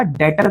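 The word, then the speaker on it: debtor: यानी कि ये एसेट्स के अंदर ही आएगा और यह आएगा डेटर के नाम से। बड़े ही ध्यान से समझना। इसे डेबिटर कहते हैं। डेबिटर में बी साइलेंट है। डेटर पढ़ा जाता है।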